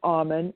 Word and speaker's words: Auman: r i n e my last name is almond a u m an so connect with me